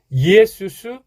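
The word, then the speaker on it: Ἰησοῦς: 크리스토스, 예수스, 크리스토스, 이게 이제 원래 성경에 그 원어 성경에 나오는 발음입니다.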